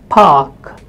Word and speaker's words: park: of the word or when it is followed by a consonant sound, this R is actually not spoken. So you might have words like mark, park, where the letter is A but it is not spoken.